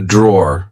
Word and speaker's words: drawer: um be careful because in British English we don't pronounce the e at the end we just say draw um here we have